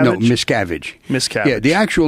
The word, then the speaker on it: Miscavige: So without further ado, please welcome Ron Miscavige.